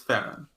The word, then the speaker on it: Theron: Yeah, because I watched the interviews with her, and every time people pronounce the name, I was like, oh yeah, it is Theron.